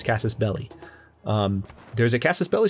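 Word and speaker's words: casus belli: belly everyone pronounces it Cassis belli but it's Cassis belly um there's a Cassis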